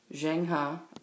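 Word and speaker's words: Zheng He: see this is how you spell his name jenha is how it's pronounced um and he was one of the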